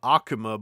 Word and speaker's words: Akuma: Um, if you really if you really want to get into baiting people to start complaining, I'm using the western name Akuma, but I'm pronouncing it the Japanese way, even though in Japan